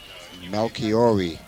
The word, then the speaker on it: Melchiori: Melchiori. I've gotten the correct pronunciation.